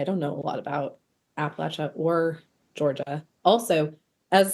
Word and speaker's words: Appalachia: I don't know a lot about Appalachia or Georgia. Also, as a side note, one of my students yelled at me for saying Appalachia.